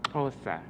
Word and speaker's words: Xhosa: It's called the click language. It's Xhosa. The language has 3 sounds that are not tonal. That is to say, don't come from the vocal box. The X, which is lateral, it's the Q, which is palatal, and the C, which is labial.